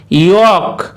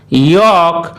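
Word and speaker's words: yolk: Rule 4, কোনো ওয়ার্ডে এল লেটারটি যদি ও এবং কে এর মাঝখানে থাকে অথবা কোনো ওয়ার্ডে OLK একসাথে থাকলে তখন কিন্তু ওই এল লেটারটির উচ্চারণ সাইলেন্ট হয়। যেমন ফোক, ফোক, ইয়ক, ইয়ক, ফোক সং, ফোক সং, কিনফোক, কিনফোক ইত্যাদি।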